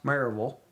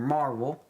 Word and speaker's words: Maryville: town of maryville tennessee it's pronounced marvel or marvel all right so that's how you pronounce it and here is marvel maryville tennessee and when